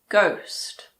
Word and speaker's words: ghost: If a word begins with GH, the H is silent. Like in the words gherkin, ghetto, ghost.